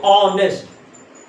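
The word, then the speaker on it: honest: ऑनेस्ट मैन क्योंकि देखिए आप एज क्या है साइलेंट है तो ऑनेस्ट आर तो ऑनेस्ट ऑनेस्ट मैन तो एन ऑनेस्ट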